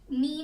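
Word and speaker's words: knee: Wait में G silent, half में L, नी में K, जज में D एंड ऑनेस्ट में H इज साइलेंट.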